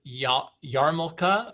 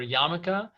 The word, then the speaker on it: yarmulke: in some communities you might hear the word yarmulke okay or yamaka and that is actually a a contraction of